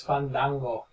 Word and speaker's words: Fandango: And you notice how they've like pronounced it, like Cole went out of his way to make sure it wasn't Fandango, it's Fandango. Fun. Dang. Go.